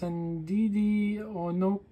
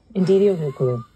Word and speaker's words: Ndidi O: Her name is, and correct me because I've been trying to spell it properly or say it properly, it's Ndidi O. Yeah, Ndidi O.